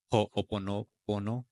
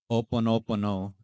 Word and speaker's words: Ho'oponopono: which is called the Ho'oponopono. I believe that's how you say it. Oponopono. Ho'oponopono. Oh, the H is silent.